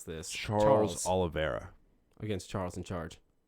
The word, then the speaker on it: Oliveira: to pronounce this Charles Oliveira against Charles in Charge just say olive and then era Olive Oyl yes that's